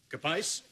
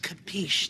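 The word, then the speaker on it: capisce: Capice? It's pronounced capiche, Dad.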